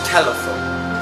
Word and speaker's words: telephone: As you can see, there are 3 sounds in the word telephone, and the stress sound is above the first sound. So it should be telephone, like this.